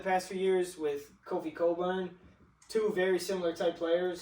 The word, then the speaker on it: Cockburn: Spelled Cockburn, but trust me, if it was pronounced Cockburn, I would have been on that. It should be pronounced Cockburn. It's pronounced Cockburn.